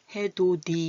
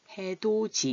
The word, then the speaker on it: 해돋이: 모음 2가 올 때는 해도 D 이렇게 발음하지 않고 해도지 이렇게 반음하는 거예요 해도 뒤 같이 일은 어때요 혀가 좀 짧은듯한 소리가 들려요 듣기가 거부하죠 그래서 해돋이 발음하기도 쉽게 해돋이 같이 이렇게 말해요 우리 같이 놀아요 그런데